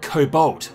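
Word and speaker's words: コボルト: In Japanese, we decided to pronounce it kobolt, with a T sound for extra cuteness.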